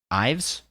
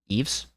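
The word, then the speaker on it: Yves: company co-founder and CEO how do you say his name Evis yevis mutt is Ives Eaves I'd just go with Eaves hey the that guy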